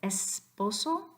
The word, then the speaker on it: esposo: nothing weird about it you've got two letter s's and they both make the sound the first one in